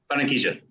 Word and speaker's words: Barranquilla: Do you pronounce the city? Is it Barranquilla? Is that how you say it? Barranquilla.